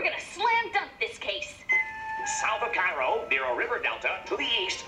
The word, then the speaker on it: Cairo: Illinois too sis spelled the same only they pronounce it hey yo South you get to Tennessee on the east bank of the Mississippi south of Cairo near a river delta to the east lies